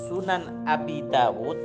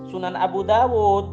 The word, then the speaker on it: Sunan Abi Dawud: om Erik barusan itu di dalam Kitab Sunan Abi Daud bukan Sunan Abu Dawud bacanya keliru lagi sampeyan yang sampean